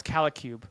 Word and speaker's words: C Cube: been saying it wrong it's C Cube not KUB Kasa C Cube C